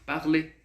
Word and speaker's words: parler: No francês, não. O verbo que tem o sufixo em ER e você vai colocar aqui no infinitivo, você vai falar apenas até antes do R, ok? Ou seja, parler, coucher, étudier, fumer, beleza?